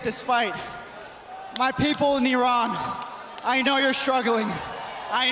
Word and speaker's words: Iran: mat like a basketball but it's pronounced Iran yes Iran Ariana Grande is Italian-American